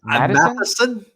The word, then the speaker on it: Matheson: How do you pronounce it? Matheson.